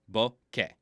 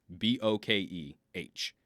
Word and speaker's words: bokeh: Bokeh. B-O-K-E-H. We don't really have a K-E-H sound in English in exactly the same way, so we've got to use metaphors for it. Bokeh. Two distinct syllables, not bokeh.